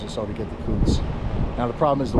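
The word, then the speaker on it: Coutts: I'm going through Coots. That's how you pronounce it.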